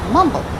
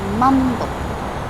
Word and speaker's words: mumble: Okay, so mumble. The stress goes on the first syllable. For example, it's mumble, mumble.